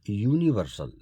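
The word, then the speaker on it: universal: अब यूनिवर्सल, यहाँ भी देखिए स्पेलिंग यूनिवर्सल की यू से चालू हुई है, जो कि एक वाउल लेटर है, पर इसका उच्चारण देखिए यू यानी या साउंड है, जो कि स्वर नहीं है, व्यंजन है।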